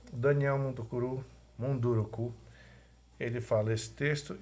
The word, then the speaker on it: Munduruku: Como é uma palavra que a gente não conhece, não está no nosso dia a dia, é o nome de uma pessoa, pode ter outra pronúncia, mesmo sem acentuação gráfica.